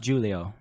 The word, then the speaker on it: Giulio: would be giulio sabar gria sure is it julio or julio uh it's pronounced julio okay yeah giulio me and julio down by